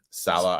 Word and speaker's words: Saleh: Matt LaFleur and Robert Saleh, I always say his name.